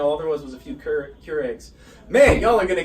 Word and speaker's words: Keurig: And, you know, all there was a few Keurigs. Man, y'all are going to get me with these pronunciations.